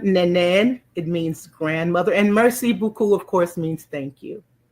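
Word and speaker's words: merci beaucoup: M E R C I B E A U C O U P Merc Mercy Buu. The next one, Nen. It means grandmother and Mercy Buku of course means thank you very much.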